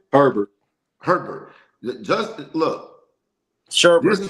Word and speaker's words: Herbert: This Justin, how you pronouncing the last name? Herbert.